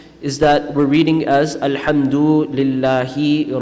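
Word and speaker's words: الحمد لله: it doesn't really have a meaning al-hamdu it's pronounced alhamdulillah here of banana and I mean one is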